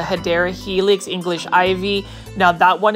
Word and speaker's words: Hedera helix: They almost remind me of a Hedera helix, or the correct way to say it is a Hedera helix, English ivy.